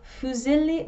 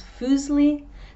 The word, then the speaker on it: fusilli: In the UK, fusilli becomes fusli, tagliatelle becomes tagliatelli, and linguine becomes linguini.